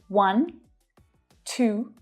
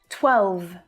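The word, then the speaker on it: twelve: 12, 12. The E on the end is silent, so we don't hear it at all, but there are a couple of tricky consonant pairs here.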